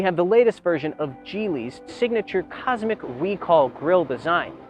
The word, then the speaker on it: Geely: one offered by chinese manufacturer gili yes it's pronounced jeely not gili jili has been making waves in the automotive